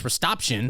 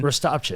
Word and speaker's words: Rastopchin: Because it took me for a long time to learn how to pronounce it. It's Rastopchin. Rastopchin.